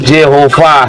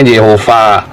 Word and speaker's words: Yehova: menyebut yahwe yahwe ya tulisannya Yod he ww he di bawah Yod ada sewanya bacanya ye di atasnya He ada kolamnya bacanya Ho di bawahnya wau ada kametnya bacanya a terus ada perpanjangan hei makanya jehovah bacanya kalau kamu lihat di